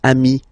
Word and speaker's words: ami: Okay, but then technically you pronounce it the same way. So singular form ami, plural form you add this S, but it's ami as well.